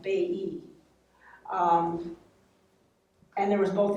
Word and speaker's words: Bailly: and henry's mother was sophie bailly b-a-i-l-l-y pronounced like bay e um and there was